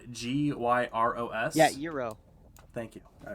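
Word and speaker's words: gyros: cherry on top do you know how to pronounce um the greek food spelled g-y-r-o-s yeah euro thank you all right good what do you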